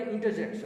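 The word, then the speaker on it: interjection: इसमें भी आर आपका क्या होगा? साइलेंट होगा। इसको पढ़ेंगे इंटरजेक्शन। क्या पढ़ेंगे? इंटरजेक्शन।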